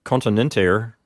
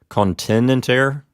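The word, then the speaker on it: continenter: be asking the question why does continent air get its accent on the P note because the vowel there is short right the e in the second to last syllable of continent air is a shorty so shouldn't we say contend intere shouldn't the accident recede one syllable and the answer is no what's happening here is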